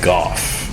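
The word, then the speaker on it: Gough: comes back you get Michael Goff cuz it's spelled like cough but I think it's actually Michael go because it spelled like do anyway who cares he's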